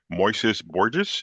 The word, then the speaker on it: Moises Borges: Moises Borges, is that how we pronounce the name?